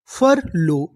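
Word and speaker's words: furlough: तो इतनी मीनिंग फर एलो फर लो यूजी एच। यहां पर हमें यूजीएच का उच्चारण नहीं करना। यूजीएच हमारा साइलेंट रहेगा।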